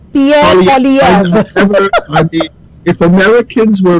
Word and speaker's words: Poilievre: I'm trying to pronounce the name of the Conservative candidate, and it's Pierre. It's Poilievre. Pierre Poilievre.